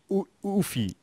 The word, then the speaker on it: UEFI: And I call it always UEFI. Just spell it out. If you spell it out, it's correct, I think.